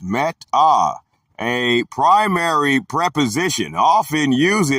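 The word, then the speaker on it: μετά: The Greek word is meta, pronounced meta, a primary preposition, often used adverbially, properly denoting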